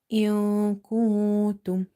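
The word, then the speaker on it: إِن كُنتُمْ: So we need ikhfa, we don't need gunna here. If you want to test, you can see this, you can say jannah, jannah, and see the position of your tongue. But when you're saying in kuntum, also observe how your tongue is suspended in the air in your mouth, is not touching anywhere.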